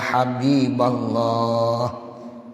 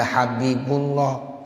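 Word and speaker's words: يا حبيبَ الله: dinasabkan Ya Rasulullah Ya Habiballah ya ada orang yang baca Ya Rasulullah salah Ya Habibullah salah ya Jadi kita yang ngaji ni biar paham Jadi kalau bacanya Ya Rasulallah banyak tuh kadang-kadang ada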